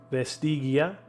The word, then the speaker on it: vestigia: Vestigia. Vestigia. I'm going to make sure I get all the I's in my pronunciation there. Have some more tea. Clear the vocal cords. Vestigia.